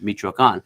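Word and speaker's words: Michoacán: There's an accento at the end, Michoacan.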